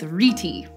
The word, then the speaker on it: rete: Incidentally, I saw this pronounced as reti and reet, so for this episode, we're gonna go with reti.